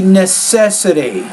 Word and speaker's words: necessity: this big one Sadie necessity put stress nest set necessity so stresses on that second syllable just that you guys